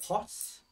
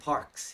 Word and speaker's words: parks: Yeah, sometimes it sounds like pots. Dạ, tại vì em chắc là em rung. So it should be parks, yeah?